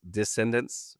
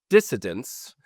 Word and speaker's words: dissident: There was a lot of dis descendants. Descendants, that's not right. Dissident is how you say that.